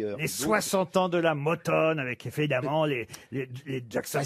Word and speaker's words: Motown: Comment on doit dire Motown.